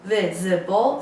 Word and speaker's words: visible: eight is visible visible visible three syllables and the stresses on the first visible means able to